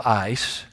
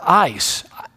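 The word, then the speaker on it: εἰς: accomplish that word for it is the word ice you spell it eis but it really is more like ice ice which means to accomplish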